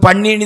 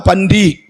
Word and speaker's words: பன்றி: நமக்கு பன்னினி தான் வரும் நம்ம ஊர் நம்ம மாவட்டத்துக்கு. ஆனால் நல்ல தமிழ் உச்சரிப்பாக சொன்னால் பன்றி.